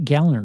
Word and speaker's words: Gallner: learned from uh like Kyle gallner says it's pronounced gallner not gner oh funny the go which is